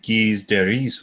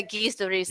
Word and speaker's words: Gilles de Rais: It'd be Guise de Ris, wouldn't it? Yeah, Gilles de Rais.